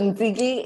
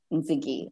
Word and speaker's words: Ntsiki: So Ntsiki is said like Nikki, just with the T-S. So Nikki Ntsiki, and that is how you say my name.